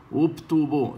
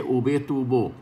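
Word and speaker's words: וּבְטוּבוֹ: Mire aquí, ubtubo, no se dice ubetubo. ¿Por qué? Porque viene la segunda letra de la palabra.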